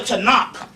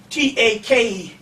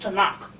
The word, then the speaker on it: Tanakh: big and they got a book called the tanakh you can get them right in barnes and nobles and borders the tanakh it's it's pronounced t-a-k-a-n-a tanak it is pronounced takana in english with